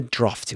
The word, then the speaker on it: drafty: In the word drafty, uh, the first vowel sound rhymes with car.